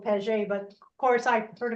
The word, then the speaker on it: Paget: Rhymes with gadget. Okay. All right. They say it's Paget, but I was always told Paget, but of course I heard about it in Canada.